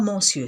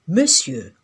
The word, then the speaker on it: monsieur: Monsir, qui signifie seigneur, s'écrit aujourd'hui monsieur, mais ça se lit pas monsieur, ça se lit monsieur.